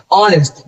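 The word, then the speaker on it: honest: Last इस वाले पे ऑनेस्ट, भले ही हमारा ये एग से स्टार्ट है, लेकिन हम इसको पढ़ते हैं, इसका प्रोनाउंसिएशन जो करेक्ट प्रोनाउंसिएशन होता है वो होता है हमारा ऑनेस्ट।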